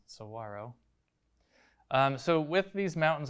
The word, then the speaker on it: saguaro: it's pronounced it's spelled like it would be saguaro but it is actually pronounced saguaro um so with these mountains i'm doing quick